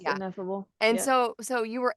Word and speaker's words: Ineffable: I love that like I is that how you say it ineffable yes ineffable and so so you